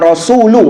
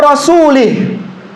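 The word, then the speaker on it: رسولُه: Annallaha bariun minal musyrikina wa wa rasuluh. Perhatikan rasul harakatnya dommah. Rasuluh. Nah, terkadang orang kebawa. Annallaha bariun minal musyrikina wa rasulih.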